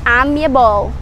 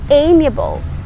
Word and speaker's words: amiable: Now, you have to learn the pronunciation, how that word is pronounced. You don't say amiable or amiable. You say amiable.